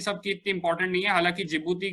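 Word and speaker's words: Djibouti: friends कमा लिया है की हांडी साइलेंट जिबूती बोला जाता है इसको डीसीजीआई जो यूटीआई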